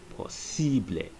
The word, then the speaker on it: posible: Like a word like possible is pronounced posible, as in the I in English is pronounced E in Spanish.